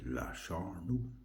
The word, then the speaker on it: La Charnue: If you get a chance to buy Biere de gustation, Charnue, La Charnue. I had a French person pronounce this for me before I made the video. Then they said La Charnue.